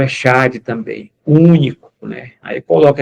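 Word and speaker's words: אֶחָד: O Echad, aí, se a gente fosse ler dessa maneira, significa, mas a pronúncia está aqui Errad, tá?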